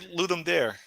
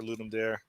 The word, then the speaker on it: Ludum Dare: It's Ludum Dare. yeah. There's a one of these things where half the people call it Ludum Dare and half the people call them Ludum Dare, which Okay. is the actual Latin pronunciation, I guess.